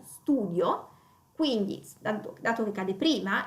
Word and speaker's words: studio: Questo è un nome che termina in io e l'accento non cade praticamente non sull'ultima i, ma cade sulla u, studio, quindi dato che cade